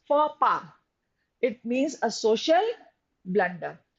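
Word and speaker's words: faux pas: u x and p a s it is pronounced fora it means a social blunder to commit a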